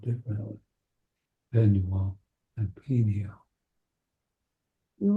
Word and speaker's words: Peniel: So Jacob named the place, how do you pronounce this, Rabbi? Peniel? Peniel, meaning I have seen a divine being face to face, yet my life has been preserved.